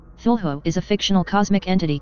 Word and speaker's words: Cthulhu: Lovecraft transcribed the pronunciation of Cthulhu as Cthulhu and said that the first syllable pronounced gutturally and very thickly. The U is about like that in full, and the first syllable